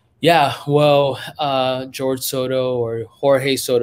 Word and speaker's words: Jorge: In Spanish, it's Jorge, right? My dad. My bad. Not there in terms of pronunciation. No, you know what? It's but I do go by Jorge, right? Like even my brain defaults to Jorge.